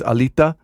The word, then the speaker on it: Alita: of Hispanic origin because when he pronounces the T in Alita, he kind of puts his tongue behind his teeth. Oh, sure. Like you would if you were pronouncing something in Spanish. It's always Alita instead of